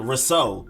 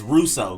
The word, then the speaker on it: Rousseau: have edge gregory russo i was saying it more like a risso but it's actually more emphasis on the rule than the so i was doing rousseau but it's russo gregory russo then you have